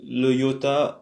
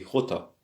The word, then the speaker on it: jota: Alors ici le X se prononce comme le iota en espagnol, jota. Alors on dit pas iota, on dit jota.